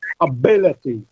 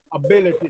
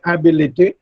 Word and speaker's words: ability: But the second syllable is stressed, and the correct pronunciation with the correct stress would be ability. Ability, not ability.